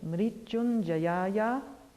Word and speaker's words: Mrityunjayaya: Okay, I was going to say, if you want to spell that for me. MRITYUNJAYA, Mrityunjayaya, and of course Namaha is Namaha.